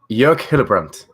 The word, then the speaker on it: Jörg Hillebrand: I've got to nail it though. Wait a minute. Jörg Hillebrand. That's great. It's a beautiful sounding name. It's Jörg. That's it. Jörg Hillebrand.